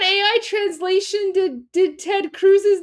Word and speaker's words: Cruz: He's He's He's saying Ted Cruz. Like, he's not he's not butchering the name. He's literally saying Ted Cruz. He's just adding an extra syllable. He's just saying Ted Kurus.